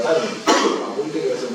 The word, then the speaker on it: Tanja: Se escribe Tanja, T-A-N-J-A, pero se pronuncia Tania.